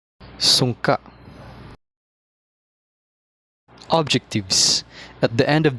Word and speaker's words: Sungka: Sungka, pronounced as Sungka, is a two-player turn-based board game wherein the players compete to obtain more stones than the other.